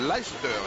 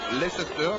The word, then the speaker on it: Leicester: Il faut bien prononcer le nom de cette équipe, hein, de cette ville. C'est Leicester, non Leicester, comme disent beaucoup. Et les anglophones sont très attachés à la prononciation de leur ville. Eh bien, je dis donc Leicester, et non Leicester.